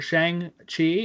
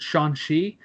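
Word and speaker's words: Shang-Chi: 9th of next year Shang Chi actually I think it's pronounced Shan shei as Kevin foge said it and the legends of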